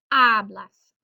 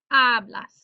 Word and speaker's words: hablas: You speak, hablas, hablas, second to last syllable.